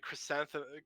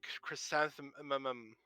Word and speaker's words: chrysanthemum: stutter and stumble as they try to say chrysanthemum they go like chrysanthe chrysanthemum chrysanthemum aluminum those words always stick